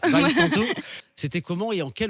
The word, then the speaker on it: Weinsanto: Alors je crois que je prononce mal son nom, je ne suis pas un spécialiste. Victor Weinsanto. Vincento. Weinsanto.